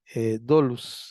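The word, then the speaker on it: δοῦλος: palabra es la palabra d o u l s do dolus es pronuncia así porque ellos usaban las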